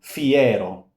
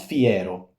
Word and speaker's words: fiero: Fiero. No, it's not fiero. It's note. No, it's fier.